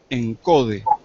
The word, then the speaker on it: ENCODE: allí lo tienen anotado es una sigla por eso lo pronuncio así directamente encode Ah ese proyecto comenzó